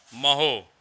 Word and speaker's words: mho: ओम की स्पेलिंग क्या होगी? OHM। और उल्टा कर देंगे तो क्या हो जाएगा? MHO, जिसे हम लोग क्या बोलता है बेटा? महो। क्या पढ़ता है उसको? महो पढ़ता है।